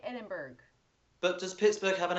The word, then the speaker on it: Edinburgh: Some people say Edinburgh. Some people say Edinburgh. So it's 2 separate syllables at the end rather than just bruh.